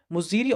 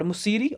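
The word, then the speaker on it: Muziris: Okay, so the important ports of Chiras were Mussoorie, okay, Muziri or Muziri or Musiri, or you can pronounce it anyways, and Tondi.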